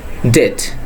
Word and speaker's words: debt: When you get this type of word where B sits before T, in that time B will be silent. So the pronunciation first one will be debt, not debt, it will be debt.